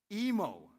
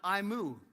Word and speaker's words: Emo: So it's emo like nemo and not imu like a cow.